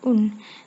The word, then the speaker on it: un: Jadi apabila angka 1 diikuti kata belakangnya, dibacanya bukan ang lagi tetapi un. Semisal jam 1 menjadi il est une heure. Semisal 1 bulan menjadi un mois bukan ang mois.